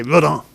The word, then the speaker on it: Rodin: It's by Rodin. Sorry, that's how you say it in English. If you're in French, he's French, so you say Rodin.